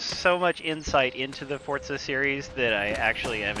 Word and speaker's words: Forza: Oh, that's You pronounce Forza in the way a German would pronounce it. The Z is sort of like a T and a Z Yeah, sound Forza combined.